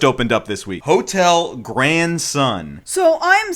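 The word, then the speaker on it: Gran Sun: I know it sounds like the word grandson, but no, Grand Sun.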